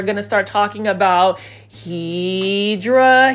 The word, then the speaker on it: Hedera: And then right over here we are going to start talking about hedra helix or what you call the hedera helix. Hideera helix is the correct way to say it.